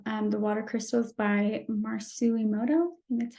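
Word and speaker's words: Masaru Emoto: a clip of um the Water Crystals by marcelimoto and that's how you say it um this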